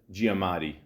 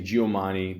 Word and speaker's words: Giamatti: not going to lie I had to look up how to properly say his name I used to say giomani but you know I'm I'm Italian I'm used to Gia Gio all that